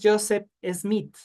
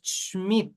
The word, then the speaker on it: Schmidt: No, no es Joseph Smith. Es Schmidt. Es con SH. SCH.